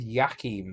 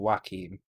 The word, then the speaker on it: Joachim: Yeah, actually, I would have said Yakim rather than Joachim. Just because of the kind of Scandinavian way of pronouncing J's. Well, actually, the kind of majority of pronouncing J's tends to be Y rather than J and rather than W. So I probably would have gone with Yakim rather than Joachim or Yachim.